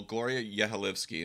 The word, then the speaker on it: Gloria Yehilevsky: Well, Gloria Yehilevsky, am I saying, I pronounced it correctly?